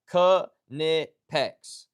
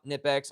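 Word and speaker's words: Knipex: It is Kipex, not Nipex. I thought it was Nipex for the longest time. It is not. It's Kipex.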